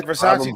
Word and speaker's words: Versace: Yeah, Versace doesn't have an H in it.